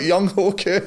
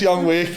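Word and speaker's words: Younghoe Koo: Well, it's spelt Young Ho Q. Young Ho Q. Oh. But pronounced Young Wake.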